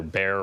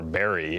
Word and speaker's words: Barre: There is actually a divide between it is either Bear or Barry.